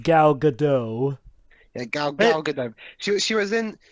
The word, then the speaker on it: Gal Gadot: right we never mentioned the actress oh it's pronounced gal gadot she was she was in she was cast